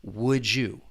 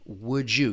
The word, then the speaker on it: would you: That final D in would, that D sound, once again, we can blend it with that beginning Y in you. Would you? Would you? You can hear that slight J sound.